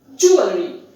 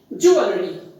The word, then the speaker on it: jewelry: the correct pronunciation is jewelry jewelry the stress is on the first syllable and there is the